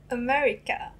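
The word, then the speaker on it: アメリカ: in a japanese way america i i think all the r just goes like l so america oh that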